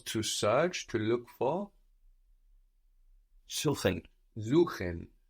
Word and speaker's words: suchen: Suchen. Suchen. So an S vowel syllable gives us a Z sound.